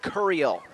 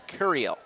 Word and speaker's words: Curiel: to reach him Ed cuel the correction on the name pronunciation that's curiel second down and three for